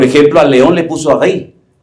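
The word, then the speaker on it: ארי: Por ejemplo, al león le puso Ari. Ellos no pronuncian la R, Ari.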